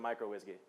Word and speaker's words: uWSGI: Micro has 2 syllables, U has 1 syllable. In a talk, you're really stressed for time, and so I chose to cut about 100 syllables-ish out of my talk by calling it uWSGI instead of microWSGI.